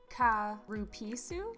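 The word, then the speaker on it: Calpis: to be pronounced peach ka rupisu but apparently in english it sounds too much like cow piss so in english we say calpico so it's peach calpico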